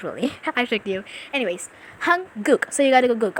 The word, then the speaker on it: 한국: Actually, you pronounce it hanguk, but most of Korean people out there don't really pronounce it really properly, like hanguk. They will almost say like hanguk or something like that.